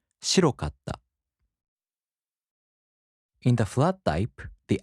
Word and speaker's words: 白かった: For example, 白い turns into 白かった, and the accent falls on し. 白かった.